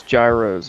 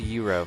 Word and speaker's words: gyro: so weird that that's happened I like Arby's Gyros okay I'm not gonna front as they say it's pronounced Euro first of all no this is America Americans